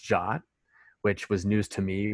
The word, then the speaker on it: JWT: briefly it's a json web token it's actually pronounced jot which was news to me when i kind